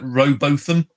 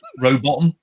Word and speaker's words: Rowbotham: I was calling a guy today Rowbotham until somebody pointed out it's Rowbottom. I said, well, it didn't say bottom, and he went, no, but it said bottom.